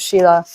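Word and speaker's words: śīla: Whiteboard so that s-i-l-a that s is pronounced sh so sometimes you'll see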